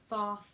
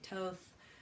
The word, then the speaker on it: Thoth: toad deck or I I learned to pronounce that name Thoth others say thoughts others say Toth Aleister Crowley's deck right